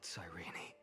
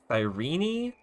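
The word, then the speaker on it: Cyrene: eyes that murderer killed sirene that's how you say her name sirene not siren I'm sorry I like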